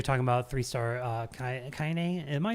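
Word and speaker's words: Kainé: looks really cool and cybertank says you are pronouncing it right cool referring to kaine kaine i still have to i don't know where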